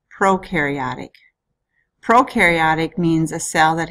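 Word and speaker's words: prokaryotic: First word in part two is pronounced proaryotic.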